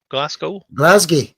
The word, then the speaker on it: Glasgow: Glasgow.